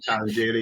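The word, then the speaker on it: Tarangire: Is that how you pronounce it? Tarangi.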